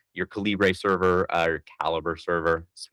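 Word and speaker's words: Calibre: the open format that like your Calibbre server caliber server that's how you pronounce it technically um you know can um host on your computer.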